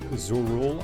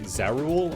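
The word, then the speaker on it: Zoraal: Why do many Americans pronounce it Zorul? I meant to say Zarul. I just misread it because I'm thinking of what's his name?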